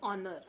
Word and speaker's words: honor: Here we don't pronounce H. H ने starting होते. हम H pronunciation करतो का? Honor म्हणतो? No, we say honor.